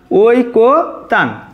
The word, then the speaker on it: ঐকতান: তাহলে আমাদের ঐকতান এর সঠিক উচ্চারণ হবে দেখো ওই, আমরা আগে লিখব ওই, তারপরে কো, ওই কো, তারপরে হচ্ছে তান, ওই কো তান, এটাই কিন্তু আমাদের সঠিক ঐকতানের উচ্চারণ।